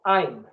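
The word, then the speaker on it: I'm: y ya está contraído esto se pronuncia aim el abductor significa yo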